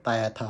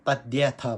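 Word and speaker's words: तद्यथा: भिन्नता हुनसक्छ होइन यहाँ कुनैले तद्याथले तायाथा भन्छ तद्याथा भन्छ खासै हामीले तायाथा होइन तद्याथा भन्छ ओम वैशाजे हामी संस्कृत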